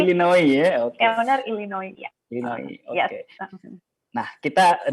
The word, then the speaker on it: Illinois: Yang benar Illinois ya.